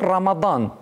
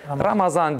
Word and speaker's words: Ramazan: Evet, o Arapça bir söz olganı için aslı Ramadan. Ramad. Ama Türkiye milletlerde Ramazan deyip telaffuz etile. Onun için biz Ramazan deyimiz.